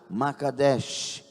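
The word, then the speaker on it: Mekadesh: Micadest, uma pronúncia melhor, não é bem o que tá escrito aqui, tá? E um if em cima, um o assento em cima agudo. K A D E S H Macadesh.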